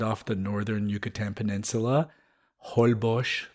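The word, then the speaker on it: Holbox: the northern Yucatan Peninsula hbos the way they say it in what is that Mayan right I think so yeah so Hall boox the way the Americans say it but hbos and you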